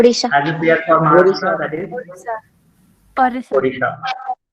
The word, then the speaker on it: Odisha: Odisha. Previously it was spelled as Orissa, but nowadays it is spelled as Odisha.